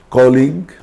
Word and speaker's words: colleague: U is often silent after a G and before a vowel. So, if there is G, then U, then a vowel, then G is often silent. For example, colleague, God, guest. You can notice here U is just after G, and after U there is a vowel. So U is silent.